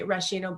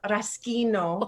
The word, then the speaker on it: Raschino: So you would say English speaking people would say Rashino, but in Italian it's called Raschino. Oh, geez. No, I know. So the H makes a hard sound.